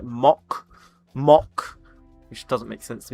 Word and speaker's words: Mach: Apparently, someone said in chat, the Americans, you pronounce it like mock, which doesn't make sense to me. Why would you pronounce it mock? But it's Mac.